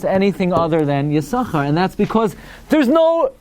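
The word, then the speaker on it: יששכר: absolutely impossible to say alpi diktok that it's pronounced anything other than yasucha and that's because there's no schwa under the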